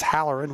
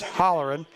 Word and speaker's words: Hollerin: I know he's got a lot of brothers watching and I do know sometimes I mispronounce the name as Howerin, which is incorrect. I know it's Hollerin.